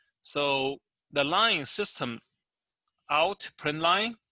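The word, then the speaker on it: println: the line system out print line is commonly pronounced as system dot out dot print line or if you want to pronounce it as a print ln that's fine the value inside the parenthesis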